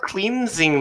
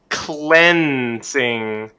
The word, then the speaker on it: cleansing: cleaning cleansing cleansing so this is a really tricky word because it looks like clean and sing it's not cleansing though cleansing it actually is pronounced cleansing cleansing cleansing okay yeah